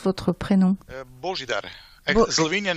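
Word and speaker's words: Božidar: parler aujourd'hui, nous avons un invité très spécial, Bojidar. Hello, hello. Hello. You hear me? Yeah. Okay. Yeah, absolutely. Bonjour. Pour commencer, je voudrais savoir comment on prononce votre prénom. Bojidar.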